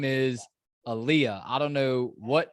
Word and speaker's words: Aaliyah: dude her name is aaliyah i don't know what name you're saying it's pronounced just like the singer's name yeah well i mean